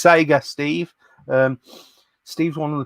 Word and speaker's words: Sega: Question: Can you tell Retro Ed Steve how to pronounce Sega? It's Sega, Steve.